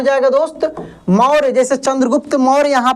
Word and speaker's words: चंद्रगुप्त: चंद्रगुप्त, चंद्रगुप्त, चंद्रगुप्त। देखिए चंद्र, अच्छा चंद्र, न का उच्चारण हो रहा है काफी तेजी से।